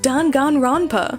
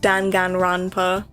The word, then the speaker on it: Danganronpa: from the makers of don ganronpa and i'm like don ganronpa is not how to pronounce that i mean maybe in